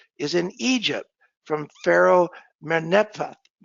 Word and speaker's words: Merneptah: The earliest inscription that relates to the Bible is in Egypt from Pharaoh Merneptah. It's a little hard to pronounce, from the god Ptah, Merneptah, Stele.